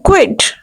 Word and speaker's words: quit: Here you have to pronounce U as W. The word will be quit.